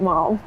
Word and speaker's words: Ma'am: So for the Queen, you would address her as Your Majesty in the first instance, and then Ma'am thereafter, to rhyme with jam. Not Mom. Not ma'am, okay.